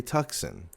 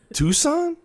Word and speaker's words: Tucson: it it's a hyundai tuxen a tuxen you mean tucson she goes tucson is that how you say it i'm like yeah she goes what's a